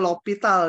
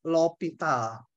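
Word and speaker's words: L'Hôpital: yang dinamakan Aturan lopital ini bacanya lopital Ya tulisannya Ada yang seperti ini ada juga yang nulisnya seperti ini buku lebih celaka lagi ini rumah sakit tapi O nya itu pakai itu Jerman gitu ya Tapi bacanya sama lovital aturan lovital yang pertama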